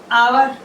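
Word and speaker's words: hour: गया अब उसके बाद आवर आवर आवर अब देखो ए साइलेंट है आवर इसमें इसमें आ जाएगा आवर आवर आवर इसमें आप देखो एच साइलेंट है तो एच तो समझो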